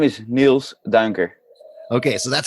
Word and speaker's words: Niels Duinker: on that one like there's a couple uh sounds in there that's it's not so common in the english language it's always confusing it's you spelled n-i-e-l-s